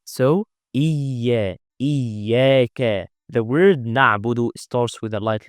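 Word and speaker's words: نعبد: So to not say na'budu, we need to extend this ayn. Na'bu. Now we never apply qalqala. But if you didn't extend it, it might be qalqala out of your control. So you may say it like this, na'budu. This is qalqala and this is incorrect. And we need as much as possible to pronounce ayn from its proper makhraj. Because some people are pronouncing ayn like hamza or ha.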